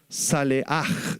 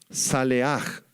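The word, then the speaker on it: צלח: palabra prosperar apúntala es la palabra salej en hebreo salej se las deletreo s a l e a h salej y significa simplemente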